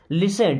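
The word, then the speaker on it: listen: लिसन, T silent है ना, लिसन means सुनो, इट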